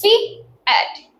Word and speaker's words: fiat: It is pronounced as fiat, which means let it be done.